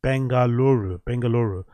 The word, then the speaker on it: Bengaluru: Bengaluru.